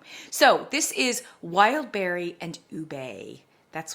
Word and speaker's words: ube: So this is Wildberry and Ube. That's how it's pronounced, Ube, okay?